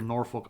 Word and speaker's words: Norfolk: I'm not hating on Norfolk Island I just literally know nothing about it can we can we Wiki Norfolk Island all right oh they don't pronounce the L it's norfol because you